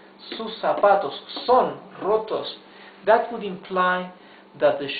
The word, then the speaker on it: roto: Uh check out the pronunciation of the R. The the R at the beginning of a word is the rough R, right? That is uh so difficult to pronounce in in English. So this is roto.